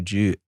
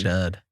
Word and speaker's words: Judd: But 2 D's, Mud, with 2 D's, basically.